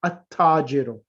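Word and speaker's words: التاجر: So when a sun letter comes after alif lam, the lam becomes silent, and the letter after the lam gets a shadda.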